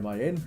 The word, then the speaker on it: MAN: As we've seen the MAN or man, depends how you want to pronounce it.